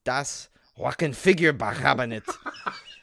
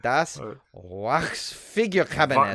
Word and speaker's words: Das Wachsfigurenkabinett: version of Paul Lenny's Das Wackenfigurebechabenet. Says an interview with can you work on his German pronunciation, please? Yeah, wait. I'm gonna try again. Das Wachsfigurenkabinett. Not Vox.